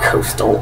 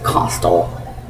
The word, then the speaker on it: costal: there's no a in costal cartilage well okay that's stupid to say there's not an a after the O it's not Coastal it's costal and I trusted my